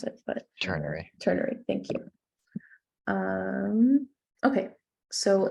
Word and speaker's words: ternary: the tertiary or ternary i forgot how to pronounce it but turner ternary thank you um okay so if there is